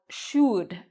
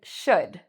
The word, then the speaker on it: should: If I said this word with rounded lips, it would sound like should. But that's not what I'm saying. I'm saying should.